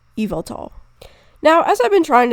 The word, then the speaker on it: Yveltal: the game Pokemon Y, so you'd think the Y would be pronounced as Y. But on the other hand, the YVEL prefix part seems to be a misspelling of the word evil, which would be like a pun on the word evil, like evil. And the tal probably comes from the Quetzal, which is a kind of bird, which Yveltal resembles. So this would lead me to believe that the correct pronunciation is Yveltal.